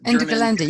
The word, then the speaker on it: Ende Gelände: I just met with these people from Ende Gelände, I can't pronounce, can somebody pronounce it for me? The Ende Gelände, you got it right.